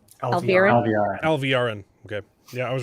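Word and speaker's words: Alviarin: Alvarin.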